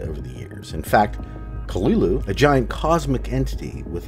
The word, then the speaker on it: Cthulhu: Now, before you give me any crap in the comments about my pronunciation of the word, listen to this. Kalulu. Kalulu. Yeah, I thought it was Cthulhu too, but, well, this is how you say it.